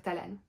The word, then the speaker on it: Talan: elle décrit d'un supportable Talan ou talent ça s'écritait à l A n on va dire Talan un jeune homme qui